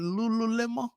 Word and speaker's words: Lululemon: What's that company with the Lulu Lemo? Is that how you pronounce it? Lululemon.